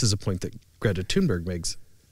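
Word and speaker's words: Thunberg: a point that Greta tunberg makes toonberry to pronounce her name as she pronounces it um makes and her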